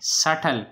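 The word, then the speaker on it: subtle: सटल, सटल में B silent है।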